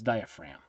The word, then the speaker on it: diaphragm: muscle is the diaphragm notice it's spelled diaphragm okay but it's diaphragm diaphragm or mind that's an